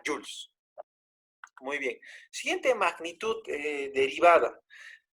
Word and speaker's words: joule: Este J mayúscula es joules, ¿ya? Entonces, newton por metro, si es que calculamos trabajo, repito, es joules. Profe, pero ahí dice joule. Claro, se escribe joule, pero se pronuncia joules.